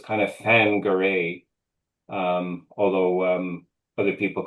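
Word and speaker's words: Whangarei: Bangare um is the wh is kind of pronounced like a in Maui. So, it's kind of fangare. Um although um other people call it Wangare.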